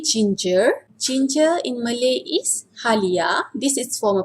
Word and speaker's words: halia: system would be ginger ginger in Malay is halia this is for pronunciation and informal pronunciation who beat Holly I